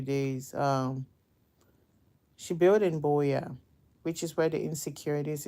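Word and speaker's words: Buea: b e a spelled b u e a Boya I know it's pronounces B they just say it's call it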